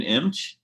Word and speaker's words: Imch: literally last time uh imch you got it that's right on not many people get it right hey